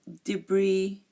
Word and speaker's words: debris: IO bis we have debris we also have Island and we have Isle again notice that I did not pronounce the s in any of these again I Bourgeois deep